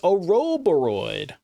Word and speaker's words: Ouroboros: Oh, it's Ouroboros.